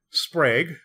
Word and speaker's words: Sprague: came away feeling like Sprague rhymes with plague my friends call me